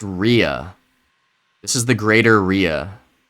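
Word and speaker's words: rhea: It's It's pronounced Ria.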